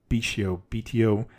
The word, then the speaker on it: Betio: Tarawa, the Battle of Tarawa, or BTO, it's spelled BETIO, I believe.